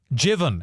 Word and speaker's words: Jevon: Jevon McSkimming. Jevon, actually, I think it is Jevon is how you say his name.